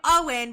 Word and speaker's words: Eoin: And we're calling him Owen, but we're saying it's spelled like Eon because we have to